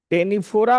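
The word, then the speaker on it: Ctenophora: coelenterate में हो गया टेनिफोरा में लिखो कम जेलीस कम कम सी ओ एम बी कम कंघी कम जेली कंघी नहीं टेनोफोरा में टेनेफोरा में अरे सी साइलेंट है उसमें हैं सी टेनाफोरा लिखा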